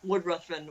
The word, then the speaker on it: Ruthven: The Lord Ruthven, or Riven, depending on how you want to pronounce his name, is so unapologetically Byron,